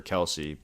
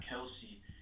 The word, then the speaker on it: Kelce: a first-round pick for Kelsey, but that's where he's going to go in drafts. No. Heck no. So, all right, well, that... You know how to pronounce his last name is actually Kels?